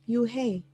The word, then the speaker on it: Yuhei: Yes, it's pronounced Yuhei, and it means grace, Mr. Kim added. Yuhei, Joey said slowly, and this time perfectly.